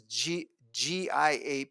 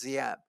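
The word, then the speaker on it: Giáp: His name is G Gap. It's pronounced Zap.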